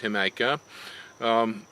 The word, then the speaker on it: Jamaica: If you eat in Mexican restaurants, you know that red drink called Jamaica, or it's spelled Jamaica, but it's pronounced Jamaica.